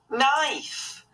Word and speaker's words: knife: Ooh, it's a knife. And a butter knife. Yum, yum, yum. Good girl, Geraldine. Knife has got a silent K at the start.